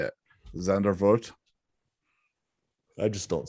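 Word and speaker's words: Zandvoort: at her zanda z-a-n-d-v-o-r-t how you say it zander vote i just don't say it track speed let's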